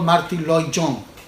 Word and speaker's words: Martyn Lloyd-Jones: por el Señor, el doctor Martyn Lloyd-Jones, se pronuncia así. Decía el doctor Martyn Lloyd-Jones: cuando me acerco a la palabra del Señor,